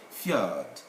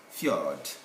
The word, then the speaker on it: fjord: norway's candidate all those countries this j is pronounced as yeah again fjord fjord letter k simple straightforward case any k standing